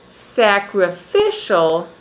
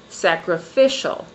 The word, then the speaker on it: sacrificial: For example, if I say analytic, I have the stress on the third on the third syllable. If I say um sacrificial again, my voice goes